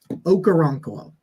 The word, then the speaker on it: Okoronkwo: Ogbonnia Okoronkwo. Okoronkwo. That's how you say it.